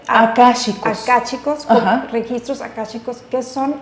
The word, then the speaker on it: Akáshicos: ¿Cómo se dice? Akáshicos.